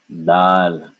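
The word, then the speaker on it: दाल: No air. Dal. Dal. Remember, long ah. Dal. Stretch it out.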